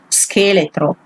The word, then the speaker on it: scheletro: Here you have an E that is soft, but it doesn't matter because the H makes it strong all the time. So skeleton will be pronunciated scheletro.